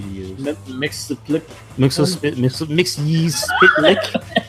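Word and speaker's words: Mxyzptlk: Mix ye spit lick. I still remember how Guilford Godfrey told me how to say it. Yeah. Mix ye's spit lick.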